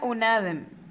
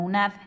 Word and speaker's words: UNAD: Oigan, primero yo decía UNADEM, luego decía UNADEM, ahora digo UNAD. Una chica que me sigue en Insta me dijo que la rectora de la universidad lo pronuncia como UNAD. Entonces lo correcto debería de ser UNAD.